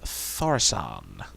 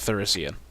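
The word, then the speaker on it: Thaurissan: Justice Grimstone, and Emperor Tharsan. I think that's how you pronounce it. I've heard it in about 6 different ways. And Thorician. it's definitely not Thorician.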